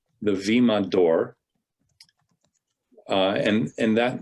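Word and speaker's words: βήμα: we would call the vemma even though it's filled with a b it's pronounced with the v sound the vemma d'or uh and and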